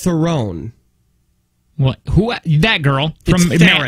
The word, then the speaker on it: Theron: Okay, she is on record saying Theron. Right. But then she's come back and said it's pronounced Theron.